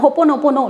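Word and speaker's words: হোওপোনোপোনো: Because হোপোনোপোনো যেটা হচ্ছে, আমি উচ্চারণটা ভুল বললাম, হোপোনোপোনো, লাস্ট একটা নো আছে, হোপোনোপোনো যেটা, তো এটা হচ্ছে আমি আগে একটা ডিটেল ভিডিও এর বিষয়ে বানিয়েছি।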